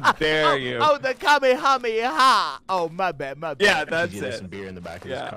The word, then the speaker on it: Kamehameha: that's a crystal ball you're gonna cast a kamikamika what the hell is that oh Omar would